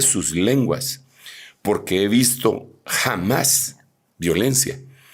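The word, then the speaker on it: חָמָס: se dice con la palabra 2555, que se pronuncia K-J-A-M-A-S, jamás.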